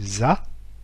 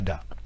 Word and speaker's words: da: Eh bien, D en vietnamien ne se prononce pas du tout comme un D français, mais se prononce comme un Z français. Donc ici, l'exemple pris, qui est le mot DA, se prononce en vietnamien ZA et non pas DA.